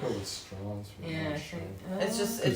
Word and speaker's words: Strauss: did in the movie did they pronounce it Strauss or straws I don't remember I watched it on the plane so I probably couldn't hear it very well straws it's just he pronounced it STW I think you're right I